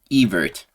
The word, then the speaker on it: Ewert: I was calling him Ewert in the past. The W is pronounced like a V. Ewert versus Yuri Panferov.